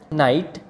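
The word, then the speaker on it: night: side आ रही है तो इसमें भी जांच साइलेंट है इसी तरह नाइट नाइट में भी जांच की कोई साधन नहीं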